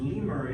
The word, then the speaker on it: Lemuria: it's because the Lemurs were going back it's Lee Murray a lot of people mispronounce they say numeric right that's actually